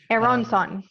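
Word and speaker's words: Aaronson: why i'm crazy and keep saying it wrong it's spelled a-o-o-a-r-o-n-s-o-n yeah eron son yeah totally totally okay cool so people connect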